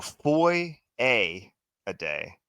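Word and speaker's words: Foyesade: So Foy a day.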